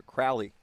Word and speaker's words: Crawley: And I heard the pronunciation by the public address announcer, Crowley.